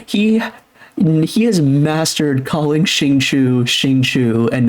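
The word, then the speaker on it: Xingqiu: and then um uh they told me that the actual Chinese thing is Shing like it's shingi pronounced the I and the U it's shingu and um he says that it's shingu is closer than Shing Cho but either one's fine and then I joke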